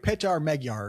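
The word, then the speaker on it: Péter Magyar: named Peter Magyar, or I think it's pronounced differently if you know how to pronounce things. If you know how to speak Hungarian. Not just Hungarian. It's like Petar Magyar or something like that.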